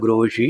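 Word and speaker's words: Grossi: അപ്പോൾ ആ ആൾ ഇദ്ദേഹത്തിനെ ഇന്റർനാഷണൽ ആറ്റോമിക് എനർജി ഏജൻസി അവരുടെ മേധാവിയായിട്ടുള്ള മരിയാനോ ഗ്രോസി, അദ്ദേഹത്തിന്റെ പേര് മരിയാനോ ഗ്രോസി, നമുക്കറിയാവുന്ന ഉച്ചാരണം വെച്ച് പറഞ്ഞാൽ മരിയാനോ ഗ്രോഷി, ഇങ്ങനെയൊക്കെ പ്രാദേശിക ഭേദങ്ങളുണ്ട്. മേരിയാനോ ഗ്രോഷി എന്നൊക്കെയാണ് സാഹിബ് പറയുന്നത്.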